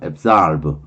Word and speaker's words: absorb: 그 다음에 absorb 앱으로 발음합니다. absorb 또는 absorb라고 발음하는데 이게 벌 약속 등으로 붙어라 그랬죠.